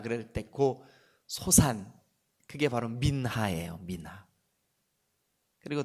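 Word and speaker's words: מנחה: 이렇게 써라 보세요 믿나 히브리 말로 민나 이렇게 발음 해요 소재 근데 이 소재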